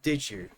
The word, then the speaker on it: did you: And did you a J sound here with D and Y together?